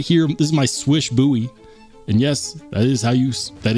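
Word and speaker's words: Slysz: how you say it it is not SLE it's not slish according to Spyderco you pronounce the name as marching swish if you don't like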